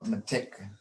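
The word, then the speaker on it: mitek: Our I is a long E and the E is a short I. So matik, and it goes along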